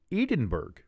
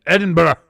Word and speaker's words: Edinburgh: Like, you would look at their capital city and think it would be called Edinburgh. Looking at it, as the name would say, you'd say, that's called Edinburgh. Wrong! You would be wrong, as the city's name is Edinburgh.